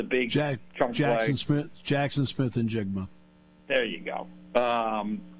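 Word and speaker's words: Smith-Njigba: who had the big chunk Jackson Smith Jackson Smith and jiga there you go um it's my job to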